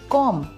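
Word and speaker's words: comb: की तंगी कनखी को इंग्लिश में कहते हैं कॉम दोस्तों इसमें दुबई लेटर है उस साइलेंट होता है कि कराची कराची को इंग्लिश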